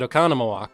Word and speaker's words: Oconomowoc: like Oconomowoc without annoying they were supposed to pronounce it Oconomowoc so yeah but really uh it was my